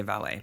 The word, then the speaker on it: valet: I know why you want to say valet, but it's valet. It's valet. Rhymes with palate.